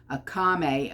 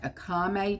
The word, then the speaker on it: Akamai: So the problem could be stemming from content delivery company, Akame.